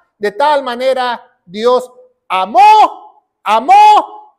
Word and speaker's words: amó: tal manera Dios amó amó con acento en la o qué quiere decir o